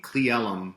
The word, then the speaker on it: Cle Elum: Cleellum. That's how you pronounce it.